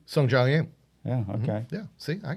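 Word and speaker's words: Sungjae Im: Sung Jong Im.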